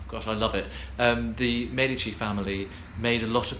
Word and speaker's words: Medici: family motto of the Medici family. Not, as a lot of people pronounce it, the Medici family, but the Medici family.